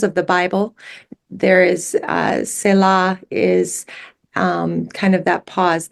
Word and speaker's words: Selah: Selah.